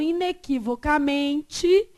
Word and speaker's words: inequivocamente: Então, a sílaba tônica aqui, ó, inequivocamente, é qual? É o MEI. Então, não há uma paroxítona terminada em E? As paroxítonas terminadas em E são acentuadas? Não. Então, inequivocamente, não tem o quê?